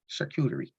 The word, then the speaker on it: charcuterie: But she helped me, and now I think shark coochie, and now I can say charcuterie.